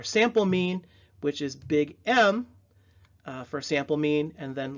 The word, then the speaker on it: mu: looking U that is our population mean again pronounced mu and then Big M capital M italicized is